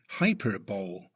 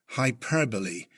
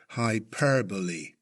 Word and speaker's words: hyperbole: A first-time reader might be tempted to say hyperbole, but note, the pronunciation is hyperbole, with emphasis on the second syllable, hyperbole.